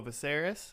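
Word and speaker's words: Viserys: Visceras. Oh, Viseris.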